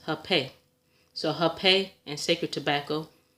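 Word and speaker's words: hapé: And as you see, it says it's pronounced hape.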